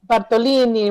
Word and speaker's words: Bartolini: And Bartolini rhymes with linguini, so maybe that's another way for you to remember.